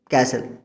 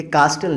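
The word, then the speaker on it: castle: अब एक वर्ड है कैसल। ये कास्टल नहीं है, ये कैसल होता है।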